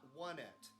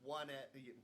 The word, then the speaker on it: Onett: 1990 x in onett it's not one it i know it's one at one and then twosome three to four side but it is actually written out you know in japanese so phonetically honetto uh yeah there are two